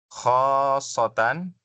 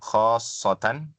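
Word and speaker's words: خاصةً: Khosan ya ini bacanya khosatan ya. Shadnya ditasdid ya. Khasatan.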